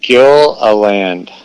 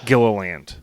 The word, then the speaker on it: Gilliland: practiced in my head what's the right pronunciation of your last name it's kill a land Gila land yeah exactly got it okay cool so Dan Gilliland which I like that